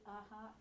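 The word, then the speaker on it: a-ha: How do you say aha?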